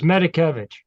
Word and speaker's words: Medikevich: I used to tell my students it's easier said than read. It's Medikevich. It doesn't look that way though.